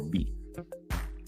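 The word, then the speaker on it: 美: And then Japanese and Chinese, like the character for beautiful is pronounced mi or B.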